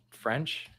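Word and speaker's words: Ffrench: is the other one French Maurice French with two FS the first f is silent and the first F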